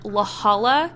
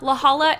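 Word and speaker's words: La Jolla: story takes place in laala California I think that's how you say it it's l a j o l l a and laala is an upper class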